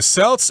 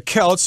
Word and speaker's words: Celts: beginning of Spring where the Celts or the Celts you can pronounce it both ways and yes indeed this